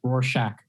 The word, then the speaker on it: Rorschach: It's pronounced like a shack, Rorschach.